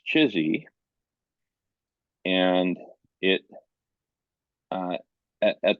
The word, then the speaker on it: CHSI: Collective human superintelligence with the acronym chsi which some of us lovingly pronounced chizy and it uh at